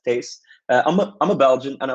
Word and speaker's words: Thijs: With that being said, hello, my name is Thijs. Yeah, that's how you pronounce that, Thijs.